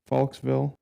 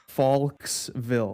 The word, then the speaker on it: Falkville: Faulksville Nope, Faulksville. Faulksville Faulk ville The S just wants to happen.